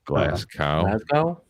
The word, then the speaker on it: Glasgow: clint glasgow glasgow glasgow how do you say his last name glass cow thank you since you